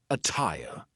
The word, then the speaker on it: attire: The true T sound can also be used when there is a double T, like in the word attire. But be careful, because a lot of double T words will sound like a fast D. But attire is an example of a double T that sounds like a true T.